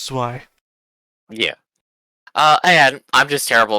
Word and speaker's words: Zwei: Zwei, by the way. Okay, Zweiwing. You said Zwei. It's German for two. The German word for two is Zwei. Ein, zwei, drei. It's Zwei.